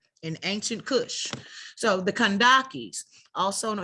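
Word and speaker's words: Kandake: ancient kush so the kandakis also know y'all know the c and the k are interchangeable so you see the cage pronounced kandaki uh also known as candace or kendaki or kentaki was the title for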